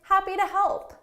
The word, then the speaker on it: happy to help: to help too - that's because this preposition here is unstressed so I'm not going